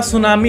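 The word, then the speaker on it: tsunami: वह हसेंगे आपके ऊपर अब सुनामी के स्पेलिंग में टू सुनामी होता है टी साइलेंट होता है वो तो apologik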